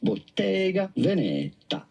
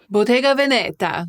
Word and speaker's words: Bottega Veneta: Bottega Veneta? Bottega Veneta. I know that that's not it. We want the Italian pronunciation.